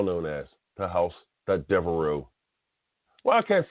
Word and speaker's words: Devereux: Devereux. Stephon Devereux. Just like that, say it like that.